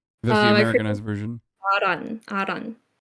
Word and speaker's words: Ahran: AHRAN. AHRAN?